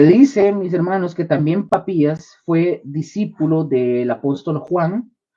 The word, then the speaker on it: Papías: este se este hombre se llamó Papías con acento en la I. Papías con acento ahí en la I. Papías suena como papa. No es como decir papi, pero con s papías papías.